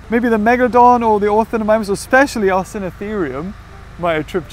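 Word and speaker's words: Ornithomimus: How do you pronounce it? Orthonemimus.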